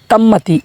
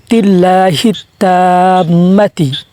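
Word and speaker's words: التامة: তাজের হিট, তা মিম জবর তাম, তিল্লাহিত তাম্মা, তাম্মাতি এইভাবে বলা যাবে না, কেননা এখানে তাসদিদও আছে, আবার একালিফ টানও আছে। আপনাকে তাসদিদও উচ্চারণ করতে হবে এবং একালিফটাও কী করতে হবে? টানতে হবে। তো আপনি এইভাবে টানবেন, তিল্লাহিত্তাম্মাতি।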